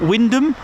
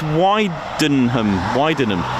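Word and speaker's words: Wymondham: And there was is it Wyndham? And it's why it should be pronounced Widenham, but it's Wyndham. They just ignored the N in there, or the H, or whatever it is.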